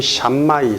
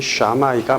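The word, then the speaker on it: Shammai: 어 당시 유대교회는 크게 두 가지 학파가 대립하고 있었으니 샤마이 학파 또는 샴이 삼마이 뭐 이렇게 하는데 원어를 발음하면 샤마이가 맞습니다. 샤마이 학파 힐렐 학파가 대립하고 있었죠.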